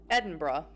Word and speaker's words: Edinburgh: in Belgium that it's it help me either Edinborough so I am saying it right okay good